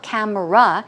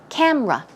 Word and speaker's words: camera: right but in English it's not camera it's rather two syllables so it's camera ok camera 2 syllables